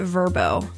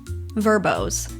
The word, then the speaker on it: VRBO: Okay, I guess you're supposed to pronounce it Verbo. So, Verbos, whatever.